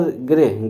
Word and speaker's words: गृह: अगर गृह, गृह में कौन सा उच्चारण आ रहा है, री का उच्चारण आ रहा है, तो ये हमारा कैसा शब्द हो गया, तत्सम शब्द हुआ।